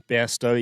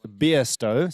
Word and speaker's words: Bairstow: And turns out that we should be pronouncing it Bairstow. So let's correct that. Just think of beer. It shouldn't be too difficult. It is a name of French origin if you go back far enough.